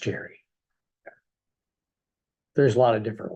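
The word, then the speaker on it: Jere: So you spell your name J-E-R-E, is that correct? Yes. But it's pronounced the same way as if it was spelled J-E-R-R-Y, as in Jerry? It's pronounced Jerry.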